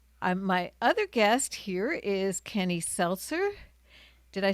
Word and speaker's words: Kenny Selcer: And my other guest here is Kenny Selcer.